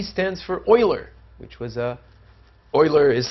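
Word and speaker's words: Euler: e some people claim that e stands for Oiler which was a Oiler is spelled e l r and some people claim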